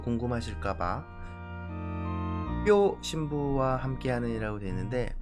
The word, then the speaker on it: 뼈: 그리고 혹시나 또 궁금하실까봐 뼈 신부와 함께하는이라고 되는데 뼈 신부는 당연히 접니다. 제사례명 빨리 발음하면 할 수 있어요.